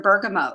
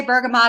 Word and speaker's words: bergamot: let me go back to your bergamot. You say bergamot, I say bergamot. And they're both accepted ways to pronounce the word.